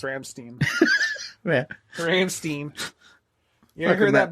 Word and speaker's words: Rammstein: normal person who is in German it's Ramstein if you talk to people who are weird they say it's ramsheim you have to say Ramstein uh you can go